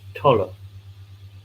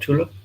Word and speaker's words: Tolle: It is pronounced Tolle. Okay. Tolle, not Tula?